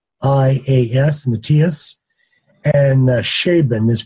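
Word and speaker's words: Scheeben: And Schaeben is pronounced, it's spelled S-C-H-E-E-B-E-N, Matthias Schaeben.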